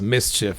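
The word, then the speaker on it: MSCHF: york company um and it's pronounced mischief but it's ms chf for those of you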